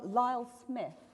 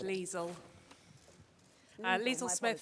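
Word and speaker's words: Lisl Lee-Smith: and this is from Lyle Smith I hope I pronounced your name correctly thank you it's Lisl Lee Smith from Christchurch I'm a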